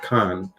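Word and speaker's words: חֵן: And this is the same word, H2580 Khan, and that's how you say it.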